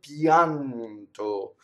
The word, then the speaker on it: pianto: Now here's an example in pianto of a semi-vowel. The I becomes just a Y, right? So it's just there to make that glide.